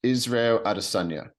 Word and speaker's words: Israel Adesanya: Israel Adesanya is how you pronounce it properly.